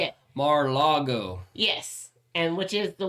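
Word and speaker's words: Mar-a-Lago: No, he's down in Moraga, or how do you say Moraga? it? No, how do you say it? Mar-Lago.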